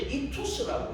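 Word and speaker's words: ΙΧΘΥΣ: 그러면 이 물고기를 우리가 읽을 때 이투스라고 읽는 거예요.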